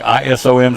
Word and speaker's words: Isom: Long look to Malachi Isom, the quarterback. I-S-O-M's how you spell it. Isom's how you say it.